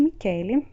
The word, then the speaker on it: Michele: A gente já estudou a parte da pronúncia do CH, então CH tem som de K em italiano.